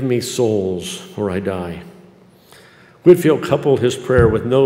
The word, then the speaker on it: Whitefield: preaching and undiluted gospel whitefield was or whitefield i'm sorry i'm saying it wrong whitfield was an imminently useful